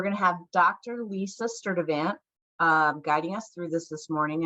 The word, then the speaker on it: Sturtevant: Lisa Sturtevant guiding us through this morning. And I hope, Lisa, that I just pronounced your last name right.